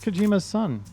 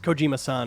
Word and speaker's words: Kojima-san: That's Kojima's son. It's Kojima-san is how you pronounce that.